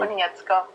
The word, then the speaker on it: Konietzko: There's no way I'm ever gonna try to pronounce his last name. So. Konietzko. Huh? Konietzko.